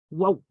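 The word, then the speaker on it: ܘ: because it's telling you how to pronounce that letter in Aramaic, which is whoa, whoa. So that's how you say that in Aramaic, and it's a W, but it means 6.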